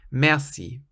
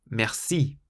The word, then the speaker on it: merci: It has two syllables, and you'll hear a lot of foreigners pronounce it merci. But Remember, we said that in French, you should always emphasize the last syllable. So rather than saying merci, you should say merci, merci. And so you're really emphasizing the second syllable, the si, merci.